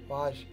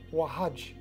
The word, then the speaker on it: Wahaj: You're very kind, Waj. Pronounce the J. Oh, Wahaj. Wahaj, got it.